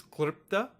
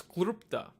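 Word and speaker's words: kḷpta: In North India, they'll pronounce this letter as Lri. So you'll hear this word KL.PTA pronounced as Klipta. If you're in South India, or if you speak Gujarati, Marathi, Odia, they'll pronounce this as Lru. So this word be pronounced as Klupta.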